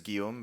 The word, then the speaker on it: Guillaume: perfect um so hi my real name is Gom but I've long given up on getting English speakers to pronounce it so um is just fine